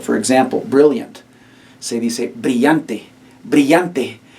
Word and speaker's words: brillante: Se dice brillante. Brillante. You have the double L, remember, it makes the Y sound.